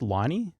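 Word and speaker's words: Lonie: So, one source within the organization stated that Lonnie, also this is spelled L O N I E. I'm assuming it's pronounced Lonnie.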